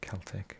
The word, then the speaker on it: Celtic: The Celtic Football Club, commonly known as Celtic, is not Celtic. Incidentally, it is pronounced with an S.